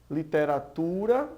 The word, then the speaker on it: literatura: Bom, literatura, nós vemos aí que o tu é a sílaba mais forte, é uma paroxítona.